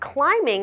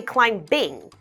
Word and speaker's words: climbing: I love climbing mountains the word climbing has a silent B so we don't say climb Bing Let's Pretend the B is not there instead let's pretend it's